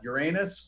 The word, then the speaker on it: Uranus: One of my space facts is there are two correct pronunciations for URANUS. Mm-hmm. Both are completely acceptable. You could call it Uranus or you could call it Uranus.